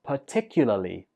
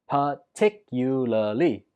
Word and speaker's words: particularly: 8 is particularly. Particularly. Stress goes on the 2nd syllable.